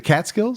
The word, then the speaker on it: Catskills: by the what's those uh is it the Catskills Mountains? I have no idea. What's that called? I know that's in New York, but Yeah. Did I say it right? The Catskills.